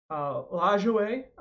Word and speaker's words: Lajoie: Lajoie, as I talked about last night, I've been saying it wrong. It is Nap Lajoie. He is French.